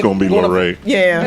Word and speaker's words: Laurey: It's Laurey. Laurey, okay.